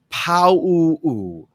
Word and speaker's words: Pau'u: Neil Pau'u, if I'm saying it correctly.